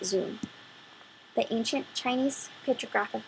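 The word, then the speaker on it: 屯: in two different ways in most cases it's pronounce is Tun carrying the meaning of gathering assembling and filling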